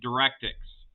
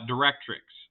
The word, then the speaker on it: directrix: from a line called the DirectX uh directrix I'm sorry I mispronounced that and the point called